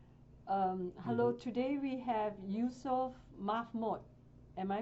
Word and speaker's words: Youssef Mahmoud: Hello, today we have Youssef Mahmoud. Am I pronouncing it correctly?